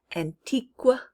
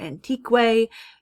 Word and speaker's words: antique: k sound like antique we don't say antiqua or antique it just makes the k sound so we'll be on